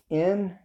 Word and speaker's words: Niemann: I'm going to pronounce it Niemann. That's Nimmin. Then there is Derral Eves.